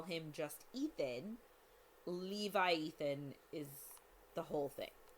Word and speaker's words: Levi Ethan: It's Levi Ethan. Levi Ethan. It's like a hyphenated name of Levi and Ethan. Yeah, Levi Ethan. It sounds kind of like Leviathan, but not quite.